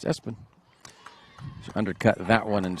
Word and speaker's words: Espen: It is spelled ESPN, right? So, I wonder about the Family Choice in that. That's awesome. But it's Espen.